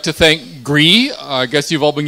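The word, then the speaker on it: Gry: I think it's because they don't actually want to, because G-R-Y is pronounced, it sounds like clearing your throat. It's GRI.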